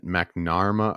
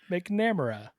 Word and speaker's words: McNamara: 2015 from Dennis McNair uh mcnarma wow I cannot pronounce last names today McNamara McNamara okay it's close enough to